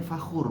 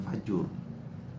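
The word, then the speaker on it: فخور: Oh, fakhur, berarti yang tadi salah ketik itu. Makanya kok fajur ya? Jadi saya agak ragu tuh bacanya tuh. Salah ketik tuh pas dikopas dari aplikasi. Makanya seingat saya fakhur bukan fajur.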